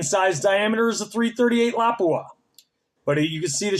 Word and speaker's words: Lapua: tell you something this here is a 338 Lapua okay some people pronounce it laua but it's a fin Finnish word um and it's pronounced Lapua but at any rate that is used for